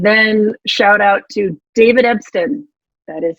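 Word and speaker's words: Epston: And then shout out to David Ebston, that is how you pronounce his name, and Michael White, the founders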